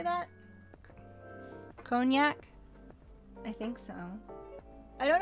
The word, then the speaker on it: Cognac: Cognac? I think so. I don't know how to pronounce things properly, but I think that's cognac.